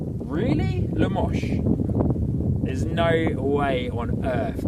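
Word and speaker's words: Limoges: Limosh. How does that How does that spell lemos? I'm sorry. How does that spell limo? Limiges. Limosh. Really? Lamos?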